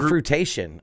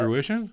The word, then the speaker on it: fruition: But this is the fruitation of the group. Fruitation? No, how do you say that? Fruition? Fruition, that's it.